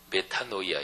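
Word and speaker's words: μετάνοια: 근원적인 변화를 담고 있습니다 헬라어 발음으로 메타노이아 있데 가던 방향을 정반대로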